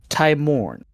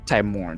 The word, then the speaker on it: Timorn: Not Timor. Timorn.